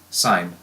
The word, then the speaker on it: sine: Please don't pronounce it sin when you're reading it out loud. It's still pronounced sine.